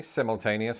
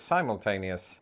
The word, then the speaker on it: simultaneous: Other examples include hibiscus versus hibiscus, privacy versus privacy, simultaneous versus simultaneous, trimester versus trimester, to stick to the theme of procreation, and vitamin versus vitamin.